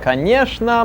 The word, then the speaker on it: конечно: Конечно, моя. She answers. Of course, mine, meaning это моя ручка. This is my pen. Say конечно once again. Che pronounce this sh.